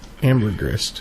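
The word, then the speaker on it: ambergris: it's called like what amber Grist yes is that how you pronounce it yeah Amber Grist yeah that [ __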